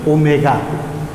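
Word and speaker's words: ω: It is not W, it is omega, pronounced as omega.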